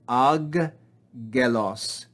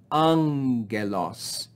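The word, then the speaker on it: ἄγγελος: the greeks simplify it they do not read it as two gammas but change the first gamma to make the sound of the consonant nu and we read this not as ag gelos but we read an so the double gamma is not read ag loss but angelos angelos and notice we have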